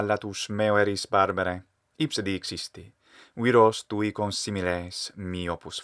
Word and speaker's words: dixisti: If it were a short dixisti, as this actor pronounced it, it would have to be dessi instead of dissi, but it is dissi in Italian. So instead of dixisti, we should hear dixisti.